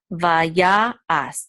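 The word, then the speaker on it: וַיַּעַשׂ: Vaya As. This is the trope mark right here. This is a Mapach. So it's going to give the accent on the Ya.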